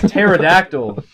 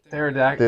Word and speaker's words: pterodactyl: like pterodactyl, Yeah. Or tsunami. kind of like What's Yeah. pterodactyl. What is Or pterodactyl? tsunami. Wait, what does pterodactyl have to do with anything? Silent P.